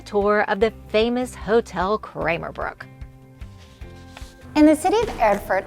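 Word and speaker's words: Krämerbrücke: So we're going to take a tour of the hotel, which is pronounced Hotel Kramerbrücke, which means the Merchants Bridge.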